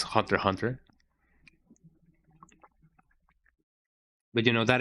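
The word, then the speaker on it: Hunter × Hunter: Yeah, I am on the camp that says Hunter X Hunter because it's really funny to say it. I know that the correct the correct quote unquote pronunciation is Hunter Hunter.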